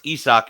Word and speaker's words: Isaac: this is ESO Peres I want to say Isaac Peres but it's isach is how the pronunciation is on baseball reference so Paredes is somebody